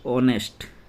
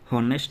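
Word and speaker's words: honest: ऑनेस्ट इसका pronunciation क्या होता है? कैसे होता है? ऑनेस्ट। होनेस्ट नहीं होता ऑनेस्ट जब आर्टिकल लगता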